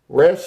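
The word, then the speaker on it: ריש: Resh, it looks like a P turned backwards, but it's pronounced with an R. So when you see this character, you know that a R sound is coming. R. You know, like rag, or roll, or ride, like that. R.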